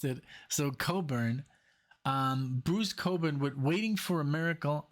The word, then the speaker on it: Cockburn: said um you know you know how I pronounced it so Coburn um Bruce Coburn with waiting for a miracle from the album waiting for a miracle and this is from also 1987.